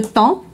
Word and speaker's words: temps: Donc le temps, on prononce pas p ni s donc le temps.